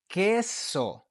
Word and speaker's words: queso: You do not pronounce the U. You ignore the U and you pronounce the vowel that follows it. All right, this is important. So this word is queso.